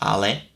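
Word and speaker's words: але: I know it is ale, which is how you actually are supposed to pronounce it.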